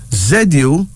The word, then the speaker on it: Zuli: Here's another female name, Zuli. Z-U-L-I. Pronounced Zuli.